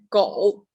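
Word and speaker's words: 狗: Its pronunciation is "go."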